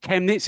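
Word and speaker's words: Chemnitz: come over and coach in Germany is it chemets is that how I pronouncing that correctly correct chemets yes how did that come about well uh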